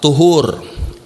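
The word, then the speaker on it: طُهُور: itu separuh daripada iman dibacanya bukan pakai pop eh bukan pakai Fatah Taypak edoma up tuhur yaitu perbuatannya perbuatan apa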